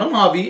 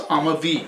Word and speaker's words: Amavi: valley they're amavi amavi it's not a hobby it's amavi kind of like that you know black eyed peas i'm a bee i will be that's how you say it now i'm a v